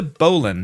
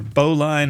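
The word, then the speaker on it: bowline: So knot number two, this is the bolan knot or boline, however you want to pronounce it.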